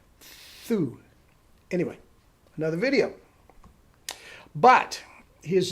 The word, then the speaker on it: tu: So, tu is not pronounced tu in French. It's pronounced thu.